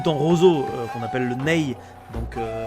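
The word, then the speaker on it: nay: C'est la fameuse flû en roseau qu'on appelle le NE. Donc à l'occidental, ça s'écrit N A Y.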